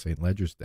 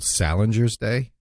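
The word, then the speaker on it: St Leger's Day: They said that's how it's pronounced, St. Ledger's Day. Oh, wow. Okay. Now, one of them said someone snooty would say it's called Salinger's Day.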